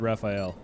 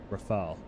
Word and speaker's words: Rafale: I've always pronounced it Raphael. But now that you mention that, that's not how you... Yeah. Rafale? Rafale. Well, that's embarrassing.